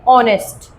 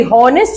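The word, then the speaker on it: honest: कुछ वर्ड्स ऐसे होते हैं जैसे कि ऑनेस्ट, अब इसकी प्रोनाउंसिएशन ना एच से नहीं होती, हॉनेस्ट नहीं होती, ऑनेस्ट होती है।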